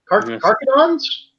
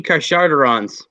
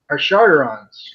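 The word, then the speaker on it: Carcharodons: Carcadons? Am I pronouncing?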